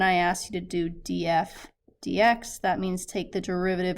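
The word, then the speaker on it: df/dx: All right, the next one is df dx. That's how we would pronounce it.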